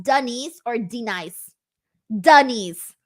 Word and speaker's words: Denise: Denise. Like duh and knees.